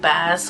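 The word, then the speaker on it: Baz: it is directed by bass Lerman or Bass Lerman however you want to say his name it's b-a-z um but as Lerman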